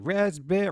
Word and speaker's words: raspberry: iced tea raspberry raspberry they should really take that pee out of raspberry because nobody nobody pronounces the p i've said this before and i'll say it again that p does not need to be there get your p out of my raspberry canadian animation studio out of